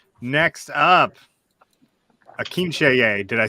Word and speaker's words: Akinseye: All right, next up, Akinseye.